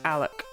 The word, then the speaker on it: Alex: spank Alex spank spelled Alex pronounced Alec SP no [ __